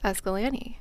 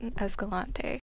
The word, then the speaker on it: Escalante: to pronounce Escalante the same way the locals pronounce it. It's Escalante, not Escalante.